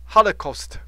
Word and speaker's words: Holocaust: 哈，a very large amount of destruction 哈，Holocaust。